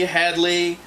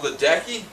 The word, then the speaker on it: Ledecky: olympic note major congratulations to katie catherine headley hadley i'm very sorry i got your name wrong come on ledecky ledecky there we go oh